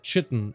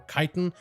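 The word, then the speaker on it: chitin: with collecting 1,500 nerubian chitten or kiten I've heard it pronounced either way I call a chitten but you'll first need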